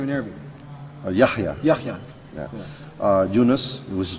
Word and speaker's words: Yahya: Yahya.